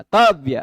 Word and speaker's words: तव्य: तो अब तव्य का पहला स्वरवर्ण त का आ है, वह उदात्त हो गया, ऊंचे से उच्चारण होगा, तव्य ऐसा बोला जाए, कर्तव्य त, त थोड़ा सा ऊंचे से बोला जाएगा।